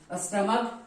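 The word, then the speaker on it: stomach: जुड़ता है एस को लिखेंगे आप स्टमक क आ रहा है च नहीं स्टमच नहीं हम लोग बोलते स्टमक बोलते हैं ट्स वाई यहां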